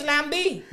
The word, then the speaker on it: lambi: That that's that's the right is Lambi. Yo, Kunk is Lambi. Kunk is Lumbi. That's a Ki Con is Lambi and Creole is Lambi. That's how they pronounce Kunk.